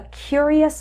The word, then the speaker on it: curious: you before the S the word stress is also different he was a curious boy the strong syllable is cure his curiosity got him